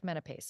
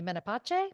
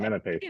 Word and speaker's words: Menapace: joining us online, Nick Menapace. And is it maybe Menapace? But just... No, you had it right the first time. Menapace.